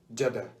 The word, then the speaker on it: Jeddah: And they keep saying Jeddah. It's Jeddah. Oh yeah. What's Jeddah? Jeddah. Why is Jeddah? Jeddah like the cheese. It's the Jeddah. It's Jeddah. Why is Jeddah, bro?